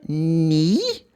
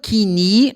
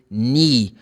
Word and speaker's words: knee: Knee. You don't pronounce the letter K. It's not key. No, the letter K is silent in this word. So you say ni.